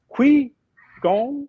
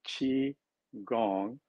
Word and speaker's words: qigong: is the g-o-n-g because people hear like they say is it qui gong or ki gong or qigong how do you pronounce it it's called chi gong and the chi is